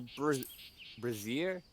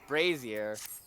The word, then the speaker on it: brazier: you are not the brightest coal in the braier that's not how you pronounce that word Brazier that's probably closer but surely such a prospect